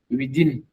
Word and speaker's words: within: Within. This sound here is not a D.